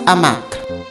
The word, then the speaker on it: hamac: Ce hamac. Masculine noun beginning with an aspirated H.